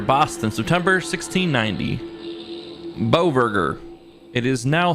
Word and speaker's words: Beauverger: Beauverger. Beauverger. Okay, that's how you pronounce Are it.